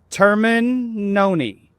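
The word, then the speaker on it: Termignoni: Terminoni. The G is silent.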